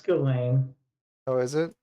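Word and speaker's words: Ghislaine: has any ties to gain Maxwell you know what else is interesting about glain Maxwell what that is a submarine pilot oh I think it's Jaslin Jaslin Maxwell no it's gain oh is it it's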